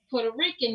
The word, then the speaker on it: Puerto Rican: And a Puerto Rican is Puerto Rican. It's not Puerto. She got me saying it wrong.